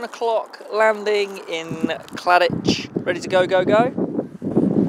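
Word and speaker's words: Cladich: final 10-mile run to Claditch. Hindsight tells me it could well be pronounced Claddick. Oh well.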